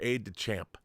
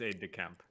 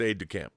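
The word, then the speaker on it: aide-de-camp: Is it aid to camp or aid to champ? Is it is it like a French word I'm mispronouncing? It's aid to camp. It's aid to camp.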